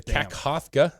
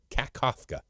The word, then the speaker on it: Kakhovka: And it's the Kakhovka, I think that's how you say it, Kakhovka Dam near Kherson in southern Ukraine has suffered severe damage following several explosions.